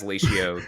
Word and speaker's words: Latio: It's ratio with an L, Latio. But where did that name come from? I know it's a bad name because no one has said it as Latio the correctly the first time.